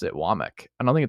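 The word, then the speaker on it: Wommack: it's he pronounced it wck I don't think it's wack uh from an interview I heard I think it's actually not wack but that's a great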